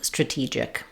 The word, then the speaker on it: strategic: Let's look at how to pronounce stra-gy and stra-TEE-gic. These words are a great example of how vowel sounds change depending on the stress of the word.